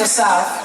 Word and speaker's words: Asaf: good and I'll introduce myself my name is assap how many has anybody ever been to my show before Assaf so I've been pronouncing his name name different ways and many